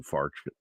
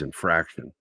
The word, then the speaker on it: infarction: about is myoc cardio infarction which is a heart attack and uh but she doesn't say it correctly she says infraction and she says it three times and I finally raised